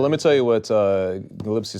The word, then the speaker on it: Gillespie: Outside Attempt to- outside of the media stuff, Gillespie is a must-watch Is it fight. Gillespie? Is that how you Yeah, pronounce it? Gillespie.